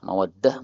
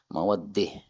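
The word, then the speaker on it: مودة: Kalau ta marbutah kemudian kita berhenti. Ah, maka di sini membacanya dengan bacaan imalah. Mawaddah menjadi mawaddih.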